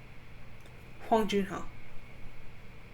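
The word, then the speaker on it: Hwang Jun-ho: name huang jin ho huang jin ho that is how you pronounce the names okay so again let's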